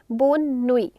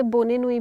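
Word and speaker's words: bonne nuit: Then we have good नाइट बोन नुई. बोन नुई. Sometimes कुछ लोग इसे बोने नुई भी बोलते हैं but that's not the correct pronunciation. It's बोन नुई.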